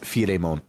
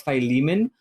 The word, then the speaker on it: Philemon: i'm pretty sure it's phyllis it is uh philemon uh really this character's name this character is i'm saying the game over guy is philemon but also his japanese name is firemon so okay well it's a reference to the